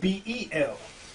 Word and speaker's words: Bel: B-A-A-L, or either it's spelled B-E-L.